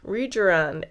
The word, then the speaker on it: Rejuran: So she suggested to me that I get Regeran. Rejan. It's pronounced quite differently in the Korean accent.